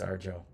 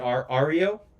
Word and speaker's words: Ario: Oh, is it Ario? Ario? Okay.